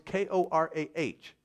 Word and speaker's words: Korah: Now, this next person who's identified here, in some King James Bibles, it is spelled C-O-R-E. In some, it's K-O-R-A-H.